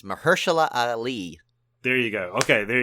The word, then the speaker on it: Mahershala Ali: It's Mahershala Ali.